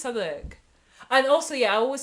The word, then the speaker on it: Southwark: Do you pronounce Southwark, Southwark? No. It's always Southwark.